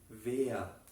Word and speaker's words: wer: Decimos wer. Aquí como quiero mencionar de nuevo, si queremos pronunciar la letra W, tenemos que morder como estos labios con nuestros dientes de arriba.